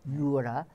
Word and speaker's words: Noura: And I have to say, the way you're pronouncing it, it's a very subtle difference. There's the O-U-R as opposed to R. It's Noura and Nora.